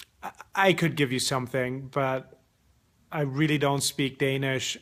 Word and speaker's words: Bølge: how to pronounce our company name hi we pronounce it qu or bu yeah what he said so where was I